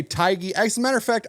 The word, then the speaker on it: Taigi: Now, according to some people on YouTube, her name is pronounced Taigi, but we're going to just say Taigi.